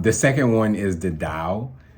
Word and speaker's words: Tao: second one is the dao it's spelled t-a-o but it's it's pronounced dao and really it's more